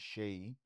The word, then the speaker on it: Seyi: just Shay Buzz.